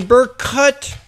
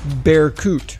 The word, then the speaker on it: Berkut: at the same time the burk cut my apologies it's pronounced bear coot not to be confused